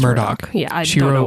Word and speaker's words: Murdaugh: It's written Murdaugh, but it's pronounced Murdoch.